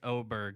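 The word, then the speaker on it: Åberg: I've never heard It is a big A, but I guess in Sweden that's an O sound.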